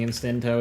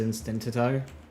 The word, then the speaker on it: Instinto: Once you're still pronouncing Instinto as Instintito.